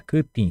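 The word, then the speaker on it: kytĩ: Dessa maneira, kutin. Kutin quer dizer cortar, cortar. Kutin, olhem só a pronúncia, kutin.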